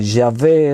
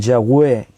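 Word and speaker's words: Yahweh: que aunque supiésemos que ya ve es la mejor traducción aún en ese sentido tú vas a encontrar que hay gente que dice ya ve y hay otros que dicen yagüe por la w entonces qué pasa que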